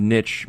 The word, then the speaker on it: niche: consider superstardom within the niche market or niche market someone was telling me about that niche market and he pleaded that correctly both both pronunciations are acceptable thing yeah tell that